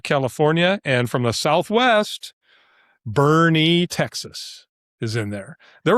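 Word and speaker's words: Boerne: It looks like Bourne. Burn or something like that. Yeah. But it's Bernie.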